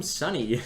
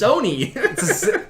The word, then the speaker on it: Sony: Why are you calling him Sunny? That's- It's Sony. Oh my god. Same thing. No. Different pronunciation.